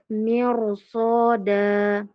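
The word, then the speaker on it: مِرْصَادًا: huruf mim berharakat kasrah huruf ro bertanda sukun ketemu huruf Shad huruf Shad ini bertanda apa ibu-ibu Eh maaf bersifat apa sifatnya Isti istila tebal ya dia dibaca tebal mirsod begitu lalu fiqirtosi fiqirtos tebal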